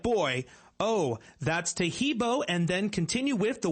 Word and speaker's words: Taheebo: Taheebo is spelled T like Tom, A-H-E-E-B like boy. Oh, that's Taheebo, and then continue with the word T, and then the word club.